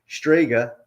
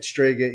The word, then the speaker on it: Strega: side note but I just want to say stga is Italian for witch a lot of people